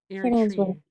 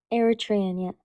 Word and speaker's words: Eritrean: How do you pronounce it? Eritrean. Eritrean, yeah.